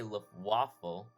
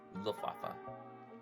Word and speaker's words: Luftwaffe: Of course, this is operated by the German Air Force, and I did say Luftwaffe, but I was wrong on that one, and it's actually pronounced Luftwaffe.